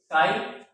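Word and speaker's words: psi: यहाँ डिटरमाइन करेंगे, जहां साई क्या है, वेव फंक्शन, ये मैथमेटिकल फंक्शन है, मैथमेटिकल फंक्शन जिसको नाम दिया था वेव फंक्शन, वेव फंक्शन, इसको प्रोनाउंसिएशन करते हैं साई से, SIGH सर।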